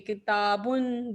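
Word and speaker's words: كِتَابٌ: The n sound at the end of the Arabic noun. Okay, kitabun, baitun, masjidun. So this n sound is a and n.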